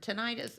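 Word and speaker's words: tinnitus: in the ears or is it tenus or tenius how do you say it so in ENT we typically say tenus tenus well let's say it properly then tenus um I I don't think that there's technically really a wrong way to say it but okay tenus is how we typically say in ENT but tenus is a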